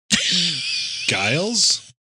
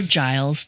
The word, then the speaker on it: Giles: Guiles, like G I L E S. Yeah, that's a unique name. Why didn't he get a second name? or Giles. Giles or Giles?